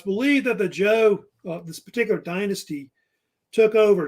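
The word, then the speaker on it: Zhou: think it's actually pronounced Jo like a j sound not not a cha like a like Joe so they actually say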